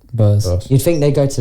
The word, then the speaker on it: Bose: No, like you'd think they would go to like is it Boss or Bose? How do you say it? Bose.